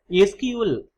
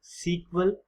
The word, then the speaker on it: SQL: SQL stands for a structured query language and can be pronounced as either SQL or SQL.